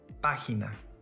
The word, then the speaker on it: página: Página. This word has three syllables. If it followed the rules, the stress syllable should have been on the next to the last.